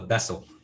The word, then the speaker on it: Bessel: Yeah, it's not the Bezos equation; it's called the Bessel.